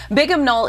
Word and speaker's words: Bigham Knoll: And it's spelled like Big Ham, B-I-G-H-A-M, Knoll, okay.